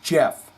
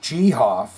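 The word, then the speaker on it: Geoff: Johnny be talking about ghof Tates first name is actually pronounced Jeff I was just messing with you Goff sounds a lot better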